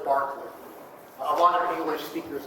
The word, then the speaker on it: Berkeley: uh John Lo uh Bishop Barkley and David Hugh um the city in California in the US is pronounced Berkeley but the name of this philosopher is Barkley a lot of English